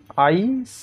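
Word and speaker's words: ice: আইস তোমরা লক্ষ্য করো যে আইসে আইসি বলছি না আমরা। আইস সতে গিয়ে শেষ হচ্ছে। ফলে আমাদের আই এর জন্য একটা স্ট্রাকচারে ভাওল সাউন্ড আসছে। এর জন্য একটা কনসোনেন্ট সাউন্ড আসছে। আমরা কিন্তু এই সিই দেখে একটা কনসোনেন্ট একটা ভয়ে লিখছি না। সি এরই সাইলেন্ট আছে।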